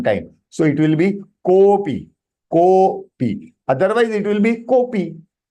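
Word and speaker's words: कोऽपि: It is Kopi. The Avagraha that you see, that the before Avagraha, the alphabet that is Ko, you have to extend a light one, little, because it is one time.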